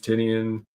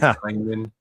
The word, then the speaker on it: Tynion: James Tinian. Yeah. Sorry, James Tynion.